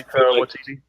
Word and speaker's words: Waititi: Taiki Waititi. He's Waititi.